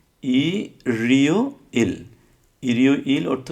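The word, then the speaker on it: 일요일: হওয়ার কথা ছিল ইল ইও ইল, এটা না হয়ে এর রিউলটা ইয়ংয়ের স্থানে চলে গিয়ে উচ্চারিত হবে। তখন উচ্চারিত কী হবে? উচ্চারণ কী হবে? ই রিও ইল।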